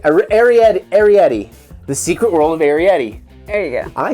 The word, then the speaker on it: Arrietty: uh herrera aried arietti the secret world of arietti there you go i said it right welcome